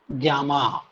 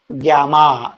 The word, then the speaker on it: gamma: सो इट is called as एन ग्यामा। क्या pronounce करेंगे? ग्यामा।